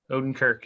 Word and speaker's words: Odenkirk: I don't know if I'm pronouncing it right. Bob Odenkirk. Is that how you say his name? Bob Odenkirk. Odenkirk.